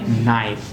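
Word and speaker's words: knife: आता है जैसे के के आगे अगर एन आता है तो क का उच्चारण चला जाता है वो बन जाता है न तो इट इज नॉट नाइफ बट इट इज नाइफ व्ट इ इट लट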